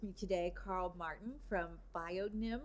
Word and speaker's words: Bionym: today Carl Martin from biion Nim am I saying it right that's correct and we're here today